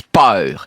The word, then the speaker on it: peur: Nous, on dit peur. P E U R E. Eux, ils disent power. Ça ça s'appelle des diftong. Une diftong, c'est quand on prononce de son voyelle à la suite, power a e diftong.